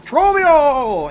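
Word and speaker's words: Trobbio: really pisses me off how many people I've seen call him Trobio. When he literally pronounces his name as he screams out, he's Trobio! It's like, how do you mispronounce him at that point? seriously, how do you hear that and go, it's Trabio? That's just wrong.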